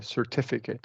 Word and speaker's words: certificate: one uh where that because the syllable is stressed we we're going to do a true T certificate oh okay certificate okay certificate yeah correct